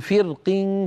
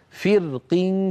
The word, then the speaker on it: فرق: القبائل ينطقها مرققه لان القاف قد كسرت فيقول فرق كالضوء فرق كالطود مرققه سانطقها مفخمه ثم انطقها مرققه فانفلق فكان كل